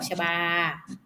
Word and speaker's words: ชบา: ชบา เห็น ไหม คะ จะ ไม่ มี รูป สระ อะ เลย นะ คะ เวลา อ่าน ต้อง อ่าน ออก เสียง อะ กึ่ง เสียง ไม่ อาจ ว่า ดอก ชบา แบบ นี้ ติด นะ คะ เรา